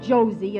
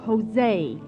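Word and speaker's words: José: Josie turby it's not Josie it's Jose in Spanish J is pronounced like H oh well let's go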